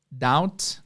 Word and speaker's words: doubts: Eu Sinto algumas dúvidas doubts dúvidas tenho B na escrita mas é mudo então também sinto algumas